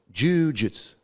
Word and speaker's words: Jujutsu: Because when it first came to the West, they were still using Jiu, because the Japanese native speaker pronounces it Jujutsu, Jujutsu. But the right way to transliterate that character is Ju.